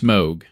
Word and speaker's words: Moog: City too at least know how Moog is pronounced it's not Mo it's Moog because it's a type of synthesizer probably be an interesting